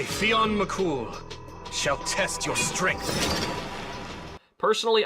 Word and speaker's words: Fionn Mac Cumhaill: Personally, I was relieved this part was voice acted because I certainly would not have pronounced his name that way. Oh, you mean Fon Mcumhale? Cumh is how it's actually written.